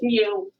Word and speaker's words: mu: statisticians in this country pronounce that new so it's mu like a kitty cat all right so what